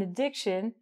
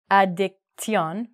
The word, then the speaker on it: addiction: So some people, this is a noun, some people have an addiction to food. Mm-hmm. So we don't say addiction, we say addiction. So actually, this sounds like shin at the end, which is even crazier.